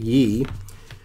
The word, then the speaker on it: Ye: time ago, that Yee, some call him Ye, but it was Yee, whichever one, because Kanye, Y-E, at the end of his name, so they called him Ye, but I believe he pronounces it Yee because it is a